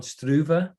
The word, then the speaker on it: Struve: I'm fluent in nothing but BS, but it's apparently Alistair Overeem and Stefan Struve and Jairzinho Rozenstruik. But anyway, for the purposes of Well, what to we're be saying.